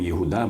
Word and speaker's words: Єгуда: нове єврейське ім'я Бен єгуда буквально син єгуди нагадаю що єгуда або єгуда так правильно згідно гебрайської фонетики вимовляється це ім'я це один з 12ти